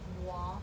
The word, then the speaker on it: moi: The OI sounds wa, like moi, excusez-moi.